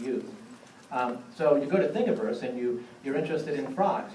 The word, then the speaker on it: Thingiverse: Yeah, Thingiverse. Spell it. Thing, like universe, only Thingiverse.